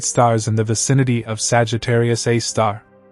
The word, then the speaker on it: Sagittarius A*: It's known as Sagittarius A*, pronounced Sagittarius A star, and it sits about 26,000 light-years from Earth, in the constellation Sagittarius.